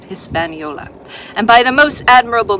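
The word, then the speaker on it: Hispaniola: his spolia I'm sorry is that Hispanola I think that's proper way to say it Hispanola and by the most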